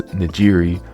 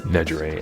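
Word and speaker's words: Nejire: my hero and I thought her name was Najiri, but it's pronounced Najger and I can't do anything about that.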